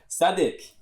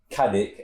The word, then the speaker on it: Cadi: on you know or cadic as we used to say that is how it's kind of spout in an English way but it's sadic that's how it's said c a d okay